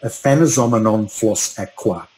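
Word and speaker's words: Aphanizomenon flos-aquae: I will pronounce it for you, but it's called Aphanizomenon floss aqua.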